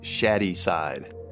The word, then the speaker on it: Shadyside: It's pronounced Shaddyside. I'm not sure that's right. It's spelled shady.